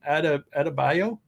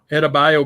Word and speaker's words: Adebayo: Adebayo? Yeah, Adebayo basketball player, PSA 9 sample.